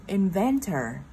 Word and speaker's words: inventor: Thì thằng inventor nó sẽ có trọng âm 2. Nên là lúc này mình sẽ nhấn tập trung vào chữ van.